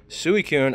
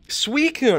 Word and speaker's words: Suicune: Suicune. I always feel like this one, how do you pronounce that? Suicune.